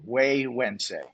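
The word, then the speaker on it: Güegüense: Waywednesday is a is a difficult one to pronounce. It is not a Spanish word. Yeah, it's Yeah, the gu is pronounced actually as a like a wii wense.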